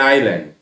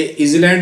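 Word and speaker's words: island: Sri Lanka is एन आइलैंड, इसका उच्चारण करो आई लैंड। तो एक बात ध्यान दो, ये इजलैंड नहीं बोलेंगे, आइलैंड बोलेंगे। आ क्या है, स्वर है,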